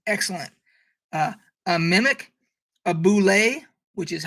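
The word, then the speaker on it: bulette: you say that uh it's not bullet a lot of people think that monster is called a bullet it's not it's boulevard tim cask who created that for first edition has done a video on his channel where he it's it's it has a french pronunciation boule so i hope they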